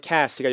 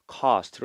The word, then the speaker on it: cast: 미국 발음으로 cast가 영국 발음으로는 cost로 나는 거니까.